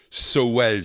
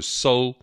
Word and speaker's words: Sowell: le sujet de Thomas Sowell, si on le prononce à la française. En anglais, on dit Thomas Sowell, qui, à mon avis, est une des plus grandes tronches économiques de ces quelques dernières décennies.